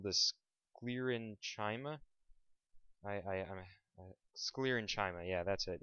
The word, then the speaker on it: sclerenchyma: is it's called the sclerenchyma i i i sclerenchyma yeah that's it it's just pronounced weird i'll go ahead and write that